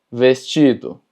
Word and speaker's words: vestido: La diferencia es que TI, no importa si está en medio o al final de la palabra, siempre se va a pronunciar chi. Por ejemplo, praticar, vestido, continente.